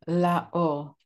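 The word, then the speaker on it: לאור: again in in Hebrew it's LA or or means light and LA or to the light um when he was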